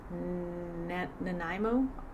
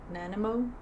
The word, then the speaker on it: Nanaimo: Chocolate, I don't know how to pronounce that. Nanaimo? Nanimo?